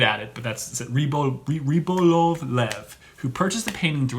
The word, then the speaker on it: Rybolovlev: the Russian oligarch Dmitry, I hate this name, Rybolovlev. That's actually how you pronounce it. Well, and if you're not good at it, but that's it. Rybolovlev, who purchased the painting through a Swiss intermediary,